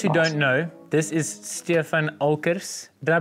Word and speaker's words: Stefan Olckers: So for those who don't know, this is Stefan Olckers. Did I pronounce that right?